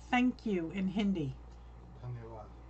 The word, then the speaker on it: धन्यवाद: धन्यवाद. Dhanyawad.